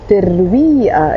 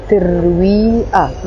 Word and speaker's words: ترويق: So ترويق in Arabic, in Lebanese Arabic ترويق, that's how we pronounce it. ترويق, that's breakfast.